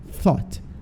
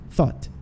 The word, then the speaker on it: thought: uma assoprada assim, ó, thought, thought, thought, tá? E o thought é som de F, ó. Mordeu o lábio inferior e fez thought.